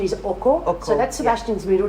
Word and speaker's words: Oko: It's called the right pronunciation is Oko.